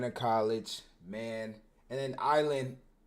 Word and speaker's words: Eyeland: And then Island, the reason it's spelled EYE is just because it's different from ISLAND, right? So it still sounds the same.